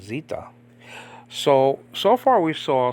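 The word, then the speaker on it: Ζήτα: Greek Vita okay and Zeta and modern Greek is called Zita okay Zita not Zeta the modern Greeks don't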